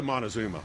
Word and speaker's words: Montezuma: It's a Montezuma. Okay. If I'm pronouncing that correctly.